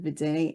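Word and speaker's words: Viðey: the coast of Iceland on the island of Vioi? I'm not sure if I'm pronouncing that right. Reykjavik, yeah, it's in Reykjavik on the island of Viday, and it was originally a little piece in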